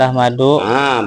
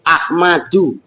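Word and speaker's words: أحمدُ: Ahmadu itu lafad Ahmadu. Nah, berarti kan cara bacanya Alvin Erwin Ahmadu, karena Ahmad itu isim ghairu munsharif. Jangan kamu baca Ahmadun.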